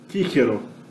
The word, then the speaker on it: Cicero: Então a gente tem aqui, né, o poeta latino Cícero, provavelmente o nome dele era pronunciado Cicero, Cicero, né?